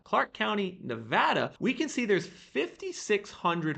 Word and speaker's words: Nevada: I'm sorry folks someone recently told me it's pronounced Nevada not Nevada Clark County Nevada we can see there's 5600 homes for sale